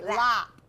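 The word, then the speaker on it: laap: It's spelled L-A-A-T, L-A-A-P, sorry, lap.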